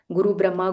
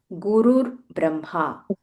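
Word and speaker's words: गुरुर्ब्रह्मा: So when I learned it many many years back, I always said guru Brahma, guru Vishnu. But after I learned the right pronunciation I understood that it is gur braha ur vishnuhu gur deo.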